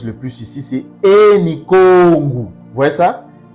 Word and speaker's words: Kongo: Mais ça c'est la bonne prononciation, c'est pas Congo, mais c'est Kongu.